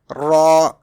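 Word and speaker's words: ر: Next letter is raw. Raw is sometimes pronounced in a thick tone and sometimes pronounced in a thin tone.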